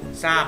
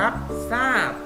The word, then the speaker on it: ทราบ: นั่น เอง นะ ครับ ทร ออก เสียง ซ อ้อ จำ ให้ ขึ้น